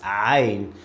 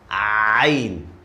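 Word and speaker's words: عين: So it's Ain. And by the way, let me make it easier for you. This letter K comes from the middle of your throat.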